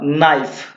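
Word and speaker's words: knife: Next फिर के को आपको क्या करना है? साइलेंट करवा देना है के को। तो के को जैसे ही आपने साइलेंट किया तो क्या बचा? नाइफ।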